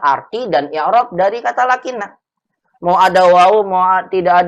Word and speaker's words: لكن: satu lagi di sini lakin lakin bacanya begitu ya lakin bukan lakinna lakinna salah lakinna lakin lakinna saya